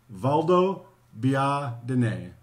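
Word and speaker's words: Valdobbiadene: us how to say it to be Adonai Valdo be ah dinnae Valdo be Odin a I know it looks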